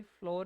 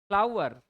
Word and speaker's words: flour: फ्लोर mill बोलते हैं हम उसको भी, फ्लोर ही बोलते हैं, है ना। फ्लावर है सही प्रोनाउंसिएशन, फ्लावर।